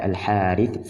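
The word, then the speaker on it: الحارث: alam dan ada al-islamiyah penulisannya seperti ini tidak ada Alif namun dibaca al-harits seperti ada bentuk pengucapannya ada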